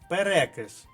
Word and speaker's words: перекис: файл текстовий наступне слово наголос падає на другий склад перекис повторіть запишіть і вживаємо надалі перекис водню викреслили б наступне